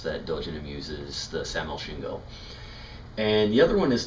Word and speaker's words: Sin: that that is used the pronunciation though is something in between those two there's not an exact or organization or an exact pronunciation that we have in the English language so it's shin so it's something in between Si and Shi in so how it's